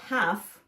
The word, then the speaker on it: half: p p e r the word half has a silent letter in it it's spelled h a